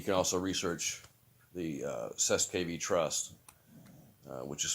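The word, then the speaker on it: cestui que vie: um and you can also research the uh cess kv trust which is spelled c-e-s-t-u-i space q-u-e space v-i-e uh if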